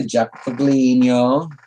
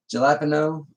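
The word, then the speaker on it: jalapeño: It's basically just a Japaglino. That's how you pronounce it, right, Reb? Japaglino? Something like that? Jalapeno?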